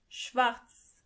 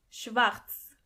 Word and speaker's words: schwarz: Schwarz. As you can see, the letter R is not pronounced as R, but more like R. So, together you say Schwarz.